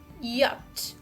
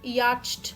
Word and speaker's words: yacht: and pronounce it this should be yat yat not yatched or yatch because here ch are silent letters hey ca like any